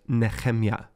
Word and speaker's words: Nehemiah: First, it's important for me to tell you that Nehemiah in Hebrew is pronounced Nehemiah.